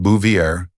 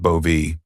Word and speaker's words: Bouvier: It's pronounced Bouvier, not Bovie or he'd hissed across the table.